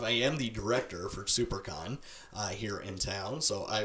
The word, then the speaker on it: SiouxperCon: Instagram and Twitter and super con is spelled s io u x p ER con like Sioux Falls South Dakota that's super con so please go of